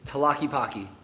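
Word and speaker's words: Tlaquepaque: Nobody knows how to pronounce this word right here. It is Talaki The Talaki is an outdoor mall.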